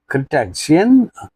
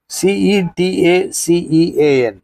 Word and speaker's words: cetacean: And the small astute fish said in a small astute voice, Noble and generous Cretacean, have you ever tasted man? Cetacean. How do you pronounce it? C-E? Cetacean.